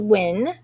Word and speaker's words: Wynn: Wynn, and that's how you pronounce that, Wynn, used 1.48 meters of netting to make 4 identical mini hockey goals.